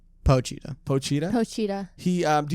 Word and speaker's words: Pochita: earlier though is do you think that uh poochie is how you say all right pochita pochita cheetah he um do you think that